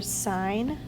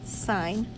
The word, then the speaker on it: sin: ratios abbreviated a lot the abbreviation for sine is s i n but it's it is still pronounced sine the abbreviation for cosine